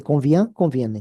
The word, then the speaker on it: convient: Qui convient?